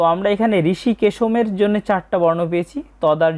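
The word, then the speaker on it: হৃষীকেশং: প্রথমে আছে ঋষি কেশম। বাংলা উচ্চারণের মত। তবে শব্দের শেষে অনুস্বর থাকার কারণে আমরা অর্ধেক ম এর মত একটা উচ্চারণ করব। ঋষি কেশম।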